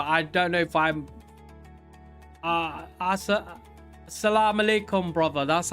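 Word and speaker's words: السلام عليكم: I'm not Muslim, but I know exactly what you're saying, but I don't know if I'm Assalamu alaikum, brother.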